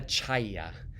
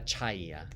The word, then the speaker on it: Ciaia: of as Olli Norbert of daddy nod della Chaya so it's spelt C I a I a very unusual spelling della Chaya he was an interesting guy he was born